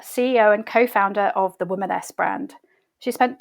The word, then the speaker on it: Womaness: So can you tell us sort of the backstory of the Womaness brand? And am I saying it right? Is it Yes, Womaness?